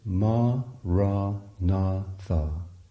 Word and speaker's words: Maranatha: Say the word as 4 syllables, ma, ra, na, tha.